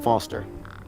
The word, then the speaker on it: Foster: so it does i'm foster i'll remember that easy because your name rhymes with fossil and you're old thanks